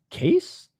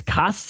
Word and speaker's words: Casse: I don't know if it's cas or or case perhaps again I read in French a is like e r e z o cas Tom Cass is how I would pronounce it in France.